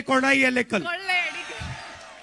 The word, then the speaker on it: കൊള്ളയടിക്കൽ: Kollayadikal. In Malayalam you say kodayalekal.